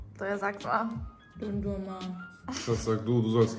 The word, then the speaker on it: Dondurma: Tja, Eis heißt Dondurma. So, ja, sag's mal. Dondurma. Das sag du, du sollst lernen. Don Durma. Fast Aussprache, aber sonst eigentlich gut.